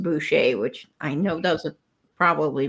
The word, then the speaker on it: Boucher: It It sounds like boucher. If you're looking at the spelling, it's B O U C H E R. Boucher, but it's pronounced Buchet, which I know doesn't probably make a lot of sense.